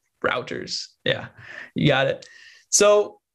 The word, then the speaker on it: Reuters: I mispronounce it all the time. Yeah, it's routers.